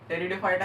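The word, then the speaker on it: Pteridophyta: next ब्रायोफाइटा next टेरिडोफाइटा टेरिडोफाइटा की spelling अच्छे से देख लो इसमें पी साइलेंट होता है और फेनेरोग्राम्स सॉरी फेनेरो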